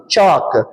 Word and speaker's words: chalk: a l next one chalk CH a LK CH L is the silent letter likewise the 10th one